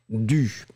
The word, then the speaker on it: dû: After that, dû, you will pronounce it dû. You write it with the accent circonflexe on the U for a good reason, it's just to avoid mixing it with, well, du, je veux du café, so you need to be careful about that.